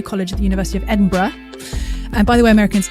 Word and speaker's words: Edinburgh: But I spent a lot of time telling Americans that it's not Edinburg. Indeed. Indeed. Uh, English people say Edinburgh and you can hear James said in a second. Um, James. Yeah. So, most Scottish people say Edinburgh, but if you're really truly a local, you say something more like Embra.